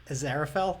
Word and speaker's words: Aziraphale: Aziraphale?